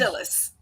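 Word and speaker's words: Dilys: RT reviewers Choice Awards and the Agatha two Dilly wins do I have that pronounce right Dy wins Dilly wins Dillis Dillis wins well they misspelled that it's d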